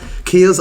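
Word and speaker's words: kea: Key Kia.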